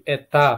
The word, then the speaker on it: это: Seperti kalau pada perempuan jadi eta pakai a, kalau laki-laki muskoirat menjadi etet pakai t. Nah, ini kalau karena netral dia menjadi eto ya, dibacanya eta juga, eta bukan eto ya.